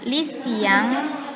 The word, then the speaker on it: lycéen: Contoh yang feminin adalah lycéenne, maskulangnya lycéen. Tahu ya cara perbedaan membacanya seperti ini. Feminin, lycéenne. Lycéenne. Untuk maskulang, lycéen. Lycéen.